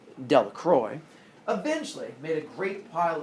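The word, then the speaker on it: Delacroix: jones and dickie delacrox the villagers pronounced this name de la croix eventually made a great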